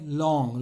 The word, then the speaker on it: langue: LANGUE, लैंग्वे, और बोलेंगे लॉन्ग, लॉन्ग खाते जो हैं लॉन्ग, तो प्रोनाउंसिएशन भी ठीक करना पड़ता है।